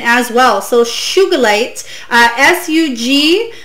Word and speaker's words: sugilite: well so sugelite uh s-u-g-i-l-i-t-e sugilite i believe is the pronunciation and the spelling for that um so again many